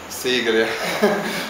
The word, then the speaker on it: Sigiriya: Sigiriya. Thanks for the pronunciation.